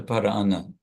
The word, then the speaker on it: parāna: Pāńca parāna, and there's this little stretching syllable. The word is prana, and it becomes parāna, just to give another syllable for singing.